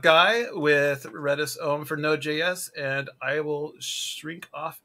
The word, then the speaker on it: Node.js: that it's always spelled node.js but even if it's spelled node.js you just say node so oh this is